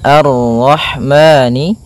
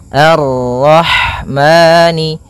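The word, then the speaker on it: الرحمن: di sini ada huruf ha ha yang berharakat Sukun dan sifat ha itu yang paling mencolok adalah sifat hamasnya yaitu mengalir n nafas ketika kita membacanya arah arah kemudian dan jangan sampai memantul Hnya kemudian maani ada bacaan Mad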